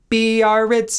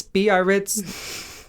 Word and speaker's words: Biarritz: Do you know how that's pronounced? No. Biarritz, Biarritz.